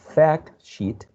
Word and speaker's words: fact sheet: You have to say fact with a trap, fact, and then sheet with a very long and tense E. Fact sheet.